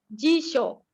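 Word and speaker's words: 辞書: Pelafalannya jisho.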